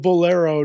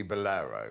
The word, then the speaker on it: Bolero: music it's one word first syllable sounds like Lads Lads Lads does not sound like beer the first syllable of Bolero does not sound like beer it sounds like an ice cream also we do